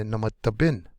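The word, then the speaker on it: namadabin: Last syllable is going to be the most accented. So we would say namata bin, namata bin, namata bin.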